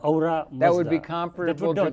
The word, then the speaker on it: Ahura Mazda: Ahura Mazda. Ahura Mazda. Ahura Mazda.